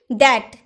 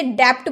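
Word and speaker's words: debt: जैसे कि डैट, क्या आप इसे डैप्ट बोलते हैं? डैप्ट नहीं, डैप्ट नहीं होता है, डैप्ट नहीं बोल सकते, क्या बोलेंगे, डैट, डैट, डैप्ट नहीं, डैट यानी कि रिन।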